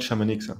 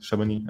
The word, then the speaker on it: Chamonix: And you know, not Chamonix, Chamonix. I know how to pronounce it correctly.